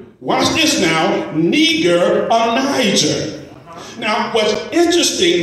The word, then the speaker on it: Niger: Now, what's interesting about this is the Strong's Dictionary, it pronounces this word Niger. But in the Castlewood's Dictionary, it is pronounced Niger. Now, for the sake of clarity, just suppose it is pronounced Niger. Well, not nigger, but Niger, which is its Latin derivative. Again, the Latin derivative is Niger, which means black.